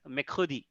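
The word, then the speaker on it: mercredi: we say uh Wednesday we call in French as mekhudi so it is not from your completely full mouth you have you have to use your inner vocal to pronounce that word so here if a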